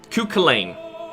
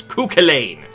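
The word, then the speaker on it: Cú Chulainn: on to a cochain cuchulain sorry sorry it's Irish and I'm Irish I should know how to pronounce him it's culain but no so um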